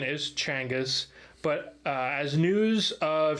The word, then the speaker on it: Genghis: was a good question Timothy says that the pronunciation is Changas but uh as news of Changas exploits spread